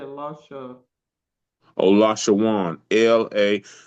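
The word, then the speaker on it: לָשׁוֹן: Could you pronounce that again, please? Which that? The last you said Lasha. Oh, Lashawan. LA. It's in the Strong's H3956. H3956, and it's called Lashawan.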